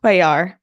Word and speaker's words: Cuellar: Henry, can't pronounce his last name, Maddie, this is your cue. Cuellar.